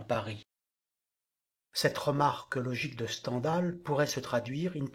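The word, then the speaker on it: Stendhal: qu'on appelle algèbre continuet-il dans l'absolu on devrait prononcer standal puisque cet 1ème pseudonyme de Monsieur Henry Bell est calqué sur le mot scandale ce nom vient d'une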